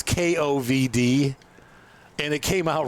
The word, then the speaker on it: Kovd: Yeah, it's actually pronounced Coved. It's Kovd. And it came out right when COVID started. I think they did that on purpose, but I don't know. But I pronounce it Lake COVID just spitefully.